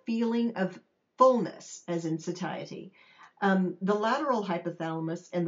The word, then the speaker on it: satiety: Now, there are a couple ways to pronounce that uh word satiety. You can say satiy as well, but I like to say satiety. It's just easier for me to say, I guess.